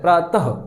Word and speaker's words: प्रातः: भी नोट कर लीजिएगा विसर्ग का जो उच्चारण है दोस्तों वो ह के समान किया जाता है प्रातः ह जब वो आप बोलेंगे प्रोनाउंसड करेंगे उच्चारित करेंगे तो आपको ऐसा लगेगा उसमें हा निकल रहा है ठीक है हा तो